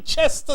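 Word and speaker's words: Leicester: go up 2-0 on Lester City that's the way we're told to say it by the English never said it wrong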